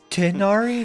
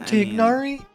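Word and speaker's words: Tighnari: It's Tenari, not Tignari. That's what the G silent.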